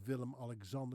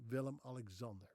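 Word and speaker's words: Willem-Alexander: She's married to a guy by the name of Villim Alexander who happens to be the king of the Netherlands. Yes, she is Queen Maxima, married to King Villim Alexander.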